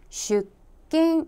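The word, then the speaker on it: 出勤: 다음 으로 , 한국어 ' 근 '( geun) 은 일본어 에서 는 ' 킨 ' 으로 발음 됩니다 . 그러므로 ' 출근 '( 출근 하다 ) 이라는 단어는 ' 슈킨 ' 이라 고 발음 해야 합니다 .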